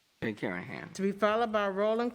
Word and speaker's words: Karahan: My name is Jay Karahan. In Turkey, they pronounce the last name Karahan.